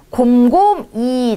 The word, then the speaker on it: 곰곰이: 곰곰이. 자, 이거는 우리 곰곰히라고 발음하지 않고 곰곰이 생각해봐. 곰곰이라고 발음을 합니다.